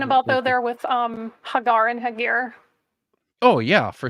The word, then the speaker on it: Hagar: So just so everyone else sees what Vishanti's getting at, the name is Hagar. That's how you pronounce it for Hagar.